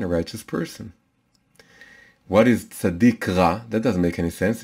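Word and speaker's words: צדיק: the name of the the name of the letter is sadiq sometimes it's called sadi sometimes it's called sadiq so sadik means a righteous man a righteous person what is sadiq that doesn't make any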